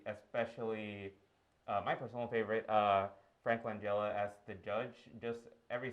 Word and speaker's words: Langella: Yeah, there were just so many that I could shout out, but specifically Mark Rylance, Yahya Abdul-Mateen, and Frank I was mispronouncing it, Langella.